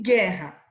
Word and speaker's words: guerra: Em qual palavra a letra U não é pronunciada e, portanto, compõe o dígrafo? Né? Gula. Eu estou falando gu. E guerra. Eu falo a letra U? Eu não falo.